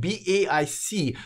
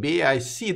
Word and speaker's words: BAIC: BAIC doesn't roll off the tongue, but if I like sound it out, it will say bake.